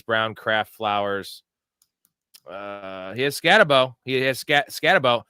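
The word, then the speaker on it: Skattebo: He has Scatabo. Scatabo. I heard him say Scataboo on the telecast. Did you guys hear that? Yeah, Scataboo. I don't know why they were doing that. That's not how it's pronounced.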